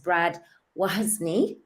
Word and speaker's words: Wozny: name is pronounced as Brad wozni am I saying that right yeah like why is me yeah what's my name and he's the host